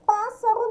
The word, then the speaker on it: pássaro: Pássaro, nós temos aqui o acento agudo no pá. Então, é proparoxítona, porque a antepenúltima sílaba é a mais forte.